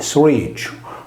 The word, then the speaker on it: Sruexu: Il suo toponimo nella variante locale, Suerciu, con la liquida R che si sposta in avanti di una sillaba, significa sugaretta.